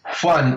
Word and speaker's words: Juan: Juan, yes.